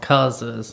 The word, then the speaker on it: Cuz's: And we went to Tazewell, Virginia, and I took her to this nice steakhouse called Cuz's and bought her lunch.